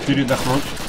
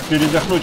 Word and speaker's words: передохнуть: Так, передохнуть. Да передохнуть, а не передохнут. Ставьте правильное ударение.